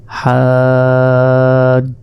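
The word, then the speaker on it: حجة: হা হিসেবে উচ্চারণ করবো অর্থাৎ হাজ্জাতুন রয়েছে এখানে আমাদের বলতে হবে ওয়াকফ যদি করি তাহলে আমাদের বলতে হবে হাজ্জাহ আর শেষে এই দুই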